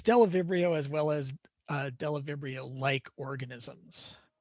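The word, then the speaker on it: Bdellovibrio: And so a classic example of this is a group of proteobacteria called the Delavibrio. The B is silent. And it's Delavibrio as well as Delavibrio-like organisms.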